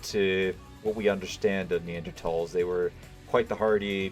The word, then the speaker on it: Neanderthal: then we had the Neanderthals or actually as they should be pronounced because the way I just said it is the way is the incorrect way it's technically neanderthals because I believe it was a German the Germans who named them this so yeah